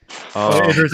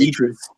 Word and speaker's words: Idris: Idris Elba.